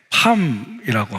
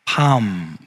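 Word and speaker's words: palm: 팜이라고 합니다. 팜, 이렇게 정확하게 발음하는데, 자, 그래서 그 야자수 나무를 보면 밑에서 이렇게 위로 보면 저 잎사귀가 손바닥 모양처럼 되어 있잖아요.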